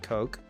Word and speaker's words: Coq: I I think if they just said it's pronounced Coke people would people would